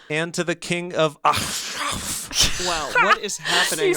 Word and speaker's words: Achshaph: Yeah, Ashraf. This is spelled ACHSHAPH. It's hard. Shop.